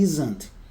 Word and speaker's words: isn't: Então vocês podem ver que a pronúncia é como se fosse um Z.